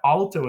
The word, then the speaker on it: alto: Now, alto is a great word to end on because it's 2 syllables, and the A in alto is long by position because it's followed by an L and a T. So you put it together,